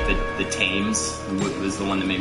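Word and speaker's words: Thames: called it's like ridiculous you don't pronounce it like it's written yeah yeah um yeah like the the tames was the one that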